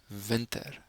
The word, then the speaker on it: winter: the next one and has the same spelling but a different pronunciation Vinter Vinter winter is from December